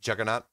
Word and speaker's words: Jagannatha: a month ago about how jagannatha is actually pronounced juggernaut it's a name of